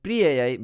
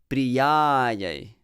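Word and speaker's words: Priyāyai: It's not Priyayai Keshavasya cha. The Pri is not to be stressed. So not Priyayai, but Priyayai.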